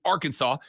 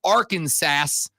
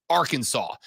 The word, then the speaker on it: Arkansas: it was said and then it metamorphosized into Arkansas I I heard some and I I don't know enough uh was it originally pronounced R Kansas I I we all have